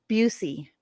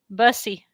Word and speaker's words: Busey: at the press conference how I said Busey, Busey to you? I said this, I'm saying it right, right? And I practiced Yep. it several times. And then I went to that podium and proceeded to call that man a name that rhymes with the female anatomy.